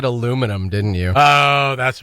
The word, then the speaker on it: aluminum: You said aluminum, didn't you? Oh, that's right. Yeah. Yeah, you mispronounced aluminum.